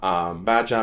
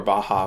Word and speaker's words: Baja: He finds a map of Baja, Mexico, or Baja, rather, my bad. Mispronounced it.